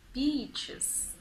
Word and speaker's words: beach: And he said, "I love beaches," except that he mispronounced it. And he replaced the long E with a short E, and it was a